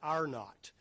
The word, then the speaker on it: R-naught: It's called the, if you look at that symbol of R, lowercase t, you pronounce that, epidemiologists call that R-naught.